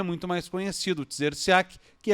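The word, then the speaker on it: Trzeciak: Então é T-R-Z-E. Então depois de 3 consoantes vem a primeira vogal. Então é difícil a pronúncia, Tzerciak.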